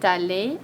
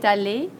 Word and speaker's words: allée: Doesn't sound any different, elle est allée, but it's spelled differently.